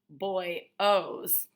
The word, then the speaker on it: bollos: Soldano makes the best bollos on Ash Street, Kermit tells me. He pronounces it boy-os.